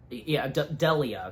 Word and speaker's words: Delia: And even at one point, Bernard then says to Delana that, Delia, sorry, you know, still gotta remember how to pronounce her name right.